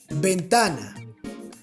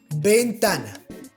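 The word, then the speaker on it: ventana: pronunciation for example bentana bentana it's the same pronunciation as the b then we have la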